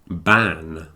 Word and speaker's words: ban: there's also van and ban van v an a a type of transport yeah and B an is a Prohibition like a smoking ban when you're not allowed to smoke in the bars so the difference between the V and the B is important and I recommend that